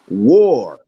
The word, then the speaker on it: war: actually w o r the a is a different sound war war okay okay you understand it's a war it's a member you got to remember war is just or the ore is pronounced very strong okay yeah war and